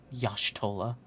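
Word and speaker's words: Y'shtola: Okay, Urianger is just bad at pronouncing things. Yes. Yashtola.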